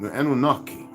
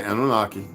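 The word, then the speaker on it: Anunnaki: the history of humankind anaki it's not even really how it's pronounced we're going to say anunaki when I when I learned how to actually pronounce that word I was like are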